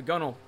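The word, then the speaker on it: gunwale: whale gun oh but it's pronounced gunnel cuz that's how sailors say it hey wait did I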